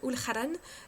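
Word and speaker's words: ulchabhán: on retrouve souvent le le mot ulharan donc qui s'écrit UL Shaban hein oui parce que en gaélique les lettres ne se prononcent pas du tout comme chez nous sinon c'est moins drôle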